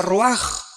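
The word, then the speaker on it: רוח: Se pronuncia roaj.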